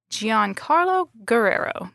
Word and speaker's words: Giancarlo Guerrero: I'm Sarah Arntz, and I have my colleague Grace Holm with me today, and we are interviewing Giancarlo Guerrero. Did I pronounce that correctly?